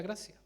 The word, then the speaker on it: gratia: La segunda sola es sola gratia, se escribe con T en latín, pero es sola gracia.